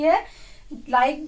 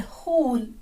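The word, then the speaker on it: who'll: हु विल से बन जाता है हु अपोस्ट्रोफी डबल L, हुल, क्या बन गया? हुल। तो इससे ये कॉन्ट्रैक्टेड फॉर्म बन जाती है हुल और इसका प्रोनाउंसिएशन हुल।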